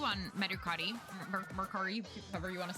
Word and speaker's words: Mercari: Yeah, I say Mercari because that's how they say it in Japanese. I don't know. Do you say Mercury?